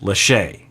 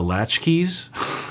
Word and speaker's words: Lachey: some of you were telling me that it's pronounced Lachey Nick and Vanessa Lachey and I was calling them the latchkeys laughs because I don't know who these people